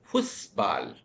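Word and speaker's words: Fußball: pussalpen see we Remember we learned beta to be pronounced as sharp s that's why we say fusbal fusbalen.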